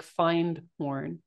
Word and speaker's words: Findhorn: It's spelled like find horn, and Findhorn.